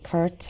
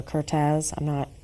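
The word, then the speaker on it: Kertész: One photographer that comes to mind is Andre Kurtz or Kurtz. People pronounce it differently.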